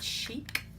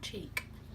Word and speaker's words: Chic: I'm just going in with my Soap and Glory blusher in the shade Rosy Chic. Chic, not cheek.